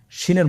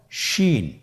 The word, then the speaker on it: শিন: শিনের মধ্যে 3টি নোক্তা আছে। নোক্তাগুলো কোথায়? উপরে। কয় নোক্তাওয়ালা? 3 নোক্তাওয়ালা। তাহলে 3 নোক্তাওয়ালা সিনের আকৃতির 3 নোক্তাওয়ালা হরফটিকে আমরা কি বলবো? শিন।